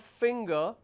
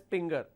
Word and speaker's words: finger: Instead of finger, some people pronounce that as pinger.